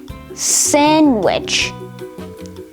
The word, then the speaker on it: sandwich: d handkerchief handsome sandwich and wednesday in all four of these words the d sound is completely absent because the d is silent however just like the